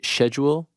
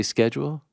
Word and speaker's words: schedule: my explanation was like you guys say schedule I say schedule what's the schedule no